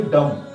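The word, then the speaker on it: dumb: यहाँ पर देखिए डम, डम ब नहीं होता है, डम होता है, ठीक है।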